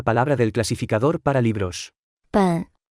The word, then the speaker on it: 本: 本本本本本本本 Se pronuncia con el tercer tono.